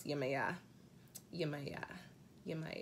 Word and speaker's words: Yemaya: y'all been mispronouncing this it's not Yemaya this is pronounce you may yeah you're my god you